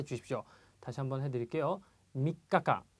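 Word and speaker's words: 三日間: 자, 조그만 쯔 발음이 초금이 들어가 있습니다. 한 바퀴 쉬는 거 눈이 강조해 드리는데요. 발음 확실하게 해 주십시오. 다시 한번 해드릴게요. 미카카.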